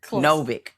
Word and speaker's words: Novik: Did I say it right? Novik. It's simpler actually than you thought it was.